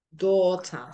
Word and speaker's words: daughter: Daughter sería así la pronunciación. Do, do, do, do, do, do, ta. Daughter. Daughter. Okay. Y voy a poner acá un acento, ¿sí? Que es el acento de la primera sílaba, porque ahí es donde hay que poner las primeras fuerzas. No es daughter, sino daughter.